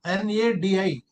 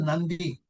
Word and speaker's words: Nadi: One is na n a di it is not called nadi. It is called Nandi. They pronounce it as Nandi but spelling is N A DI Nadi.